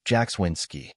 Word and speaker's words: Jackswinski: My name is Jackswinski, pronounced Jackswinski.